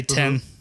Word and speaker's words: Thien: the the number 10 we just say 10 like 10 TI n so that's how that's how I pronounce that oh my god calm